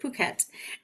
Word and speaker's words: Phuket: And they pronounce it Phuket.